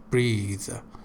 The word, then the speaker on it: breath: Yeah, the noun form is breath without any buzzing sound, and the verb form is breathe.